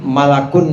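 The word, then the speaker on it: ملك: Saudara sekalian, malakun di sini bentuk mufrad, malakun, mim lam kaf, malakun, bacanya begitu. Kalau dibaca malikun itu artinya raja.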